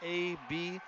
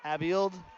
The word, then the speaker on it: Abild: It's A-B-I-L-D. Abild is what I'm going to say.